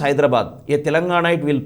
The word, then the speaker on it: Hyderabad: in the class you see how do you pronounce hyderabad a telangana it will pronounce hyderabad as hyderabad because it is hyderabad but in Andhra they call it అస్ హైడ్రా బ్యాడ్ హైడ్రా bad what is this it ఇస్ నాట్